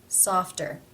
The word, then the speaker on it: softer: cluster F T therefore as it is part of this cluster it is pronounced as a real T sound softer softer how do you